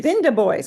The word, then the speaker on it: Binder boys: They called them Binder boys. Binda boys, because that's how they pronounced it.